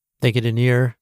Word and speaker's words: Nir: Thank you to Near. His name is spelled N I and his site is near and far with near being spelled like his name.